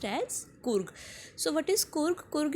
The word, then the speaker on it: Coorg: It is pronounced as Coorg.